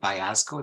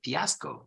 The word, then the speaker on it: fiasco: Italian pronunciation for example you say Fiasco Fiasco is an Italian word they don't say payasco they say Fiasco right yes yes Fresco